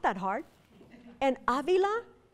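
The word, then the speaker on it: Ávila: not that hard and Avila has an accent on the first a Avila not Avila so I'm at Yale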